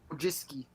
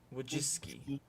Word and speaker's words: Wojcicki: Susan Well, I can't pronounce her. Wojcicki. Wojcicki.